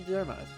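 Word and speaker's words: Diarmuid: what's supposed to be it's still pronounced but uh d-i-a-r-m-u-i-d uh one of the great heroes of irish mythology it should be dermis they might do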